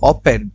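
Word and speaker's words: often: মানে হচ্ছে কতটুকু হাউ ওপেন এই শব্দটা একটু দেখেন অফটেন হয় কিন্তু এটার উচ্চারণ হচ্ছে ওপেন ওপেন ওপেন মানে হচ্ছে প্রায় হাউ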